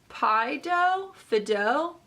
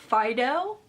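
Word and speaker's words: Phydeaux: This is from, also sounds French, Fideau. It's like one of those words with lots of silent letters. It is P-H-Y-D-E-A-U-X. Fideaux?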